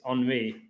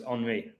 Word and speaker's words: Henry: all-time leading scorer is on me and he was named Abby Kane's Sons called Henry Arsenal's leading scorers on me which is spelled Henry and ironically Harry Kane